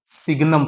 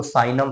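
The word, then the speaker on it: signum: ठीक, देखो सिग्नम function, या कुछ लोग इसको साइनम फंक्शन भी बोलते हैं, बट सिग्नम साइनम जो भी, प्रोनाउंसिएशन से मतलब नहीं है, कॉन्सेप्ट से मतलब है।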